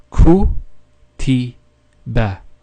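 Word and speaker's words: كُتِبَ: And then we have the ba with a fatha on top. And remember, the fatha has an a sound, so that would be ba. So it would be ku ti ba.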